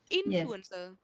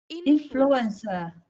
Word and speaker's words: influencer: you pronounce nearly correct because you can see that this is on the first syllable okay so we have to stretch on the first one influencer influencer correct everybody can you open